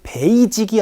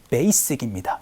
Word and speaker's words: basic: 그래서 I will stick to 무엇인데 기본은 바로 베이직이 아니고요. 영어 발음은 basic입니다. 요거 조금만 주의해 주세요.